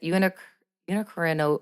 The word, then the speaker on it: unicornuate: But basically it's a unicornuate, I can't even say it. Unicornuate?